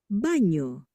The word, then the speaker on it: baño: mañana, But then when we add the squiggly, right, the tilde, that's when it becomes like a NY, like canyon. Nya, nya, nya. Okay, so let's listen. señor, baño, niña, Okay, so once